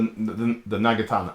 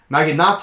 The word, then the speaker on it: Naginata: The Nagatana. Oh, it says right there. Naginata. I pronounced it wrong.